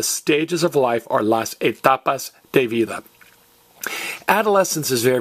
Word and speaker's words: etapas: Now, the stages of life are las etapas de vida. I am going to talk to my pa about the stages of life. Get it? There's the word T-A, ta, and the letters P-A, pa.